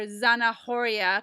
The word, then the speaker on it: zanahoria: Zana Oria right or zanahoria because the H doesn't have a sound so it's kind of a tricky word s for the Z silent h s Oria